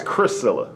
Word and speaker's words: Chrisilla: pronunciation of your name the pronunciation of my name is priscilla priscilla that's how you say with a c priscilla with a with a c so it's chris cilla correct got it got